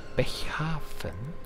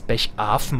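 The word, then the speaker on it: Bechafen: derand nicht mehr da bechhafen ich habe es übrigens meistens weil ich mir da unsicher war ich habe meistens bechfen ausgesprochen zu bechfen aber es ist tatsächlich ein Hafen gemeint also wird wahrscheinlich ein Hafen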